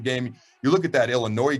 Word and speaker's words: Illinois: you look at that illinois game where the s is silent and we lose to